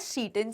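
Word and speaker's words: Tsetan: ये टी इसका साइलेंट है, इट इज प्रोनाउंस्ड एज सीटन.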